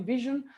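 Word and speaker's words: VSHN: words about my company vision uh it's basically pronounced like the word vision hence the i in the logo we are in zurich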